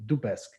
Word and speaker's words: Dubesque: No, it's Dubesque. Dubesque, like that.